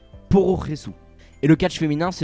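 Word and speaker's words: プロレス: Au Japon, le terme Pro Wrestling, du moins son abréviation Pro Wrestle, se prononce Pororesu.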